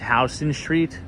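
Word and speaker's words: Houston Street: know the history of it but it is pronounced house Street ah someone says I hate Jones Beach awful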